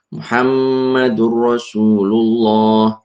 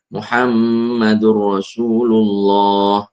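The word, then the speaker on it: مُحَمَّدٌ رَسُولُ اللَّهِ: Cara membacanya dileburkan nun sukun ke huruf lam atau ro setelahnya tanpa disertai dengung. Laat liman. La ibrotan liman. Laat liman malam. Muhammadur Rasulullah. Muhammadur Rasulullah.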